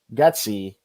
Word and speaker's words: Getsy: And now Getsy, am I pronouncing that right?